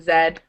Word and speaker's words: Z: about the washroom um Zed we pronounce it Zed the letter um there's also the